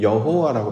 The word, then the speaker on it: 여호와: 그래서 여기에 아도나이 주님이라고 하는 단어에 모음을 따서 야훼와 붙였더니 여호와라고 발음이 되더라.